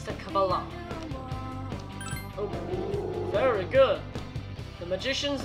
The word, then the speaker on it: Kabbalah: It's the Kabbalah.